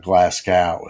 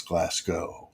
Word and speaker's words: Glasgow: But it's not Glascow, it's Glasgow. Like Moscow, right? Like Moscow.